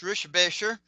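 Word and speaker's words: Richebächer: Um, I've actually met Kurt Ricker, which is actually pronounced Rishbasher.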